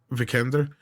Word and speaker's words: Vikander: That's how you say her name, right? Yeah, Vikander. Yeah.